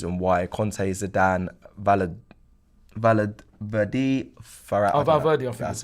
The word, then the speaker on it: Valverde: Valverde, I think. That's Valverde. That's it. Valverde, My pronunciation, you know me, my thing.